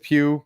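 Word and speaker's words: Pugh: to watch them Florence Pooh po I don't know how you say her name Pew I called her poo sorry but Florence Pew she's she's on this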